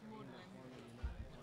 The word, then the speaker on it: Magdalene: Yeah, Maudlin. That's from Magdalene College. They couldn't change the name, so they changed the pronunciation.